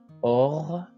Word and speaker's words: orgueil: Orgueil, orgueil, pour prononcer G. Orgueil. Accueil, accueil. Cercueil, cercueil. Vous remarquez que le U se place avant le I pour prononcer K, K.